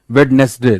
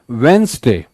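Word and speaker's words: Wednesday: भारी संख्या में लोग वेडनेसडे बोलते हैं, वेडनेसडे, that is incorrect, it's वेंसडे, इट्स वेंसडे, डी नहीं बोलना है, वेंसडे, इट्स नॉट वेडनेसडे।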